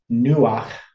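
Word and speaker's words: נוּחַ: Now this is the word nuach, kind of rhymes with ruach.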